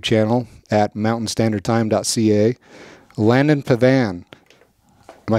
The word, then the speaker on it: Pavan: for his YouTube channel at Mountain Standard time.can Pavan am I saying that right Landon yeah yeah